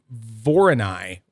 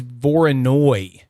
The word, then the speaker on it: Voronoi: So Kiran sent me like the word Voroni or at least how I would have pronounced it, Voroni. And then when I type in when I type in Voroni into Google, all I get is Voronoi. Oh, and it's a Voronoi diagram.